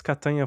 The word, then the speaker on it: Catania: You mentioned that's Catania from lasagna, right? The Italian pronunciation. That's right. Yeah, it rhymes with lasagna.